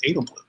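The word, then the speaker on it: Edelblut: The T is silent. It's Edelblue.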